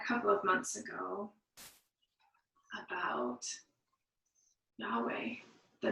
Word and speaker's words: Yahweh: As we Christians spell and pronounce it, the word is Yahweh.